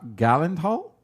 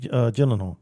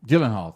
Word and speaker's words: Gyllenhaal: a comparison to and I'm gonna mispronounce this last name Jake gah Gavin Hall Jake Gyllenhaal Gyllenhaal thank you who was approached for